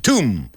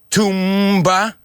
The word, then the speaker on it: tomb: come you're overcomplicating it it's similar to Spanish not Tom Tom is a guy's name okay silent B okay tomb let's practice